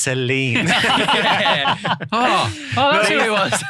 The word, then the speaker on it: Celine: Yeah, so Saloon Dion.